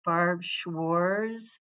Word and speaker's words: Barb Schwarz: There's no T in the name. So Barb schwars, it rhymes with samores.